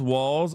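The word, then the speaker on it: Walz: Walt is pronounced Walls. I'm from Minnesota, and at least the radio says that.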